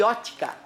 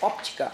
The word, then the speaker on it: óptica: Não fiquem magoados nós vamos brincar de ótica ou aliás óptica para alguns dizem os grandes de português aí que tem que ser óptica a pronúncia correta vamos que vamos